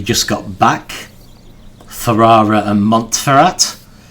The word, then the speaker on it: Montferrat: Two of them, the ones we just got back, Ferrara and Montferrat, I always want to pronounce that French style, but I guess cuz we're in Germany, it should be Montferrat.